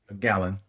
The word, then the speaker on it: Galen: Gallen Center, how do you pronounce that? Gallon.